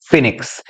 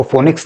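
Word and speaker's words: phoenix: word आता है students फिनिक्स इसको फोनिक्स नहीं पढ़ते इसको फिनिक्स पढ़ा जाता है और फिनिक्स एक इमेजिनरी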